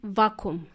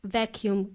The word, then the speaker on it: vacuum: the world vacuum but the plumber called it vacuum it's pronounced vacuum cleaner a vacuum cleaner is used to vacuum